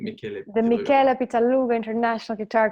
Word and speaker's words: Michele: was the, one moment, Michel Pitaluga International Guitar Competition. Yes. Did I pronounce it the right way? I think, or Michele. I think Michele.